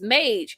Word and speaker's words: Mage: meantime he says it's Mage it's pronounced like Paige okay so I got